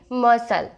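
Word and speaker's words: muscle: सी एक silent word रहेगा जिसे आप क्या पढ़ोगे? मसल।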